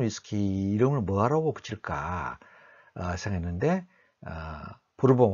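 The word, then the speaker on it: Bourbon: 옥수수를 가지고 위스키를 만들었는데 새로운 위스키 이름을 뭐라고 붙일까 생각했는데 부르본 왕조의 도움을 받았기 때문에 버번, 영어식 발음 버번을 붙이자 해서 버번 위스키로 만들었습니다.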